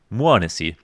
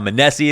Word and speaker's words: m0NESY: verified it by listening to someone talking to muanasi and i made sure that that's how you say it it's not manessi it's not meow missy it's not medici and i might mess it